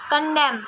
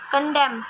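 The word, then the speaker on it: condemn: कंडेम कंडेम एंड इसमें silent रहता है।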